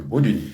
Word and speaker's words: Bodonyi: Et puis finalement, les deux I, j'ai bien compris, il fallait qu'on l'appelle Madame Boudouni.